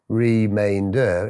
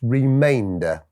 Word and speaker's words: remainder: So instead of reading this as remainder, it's remainder. Column is column.